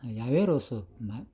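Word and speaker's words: 야훼: 그러니까 여호와의 음력인가 비교적 정확한 히브리 음력 야외입니다 야외로 특히 공동 번역에서 야외로 발음되어 있습니다 여호와는 하나님의 이름을 직접적으로 부르는 것을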